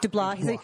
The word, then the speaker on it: DeBlois: DeBlois. He says it right. It's not like in Louisiana, your last name could be like DeBlieux, and everyone pronounces it W. Bobby W. He's Canadian. He pronounces it correct.